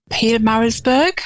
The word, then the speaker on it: Pietermaritzburg: Pietermaritzburg.